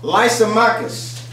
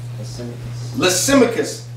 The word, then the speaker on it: Lysimachus: His name is a little hard to pronounce. It's called Lysimachus. Lysimachus.